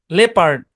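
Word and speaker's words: leopard: Silent ও এর ধরাবাধা কোনো rule নাই, জাস্ট লিস্ট মনে রাখতে হবে। People, লেপার্ড, জেপার্ডি, colonel.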